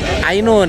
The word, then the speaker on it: Ainun: Inun itu dibacanya bukan Inun sebenarnya. Ainun. Ainun itu mata.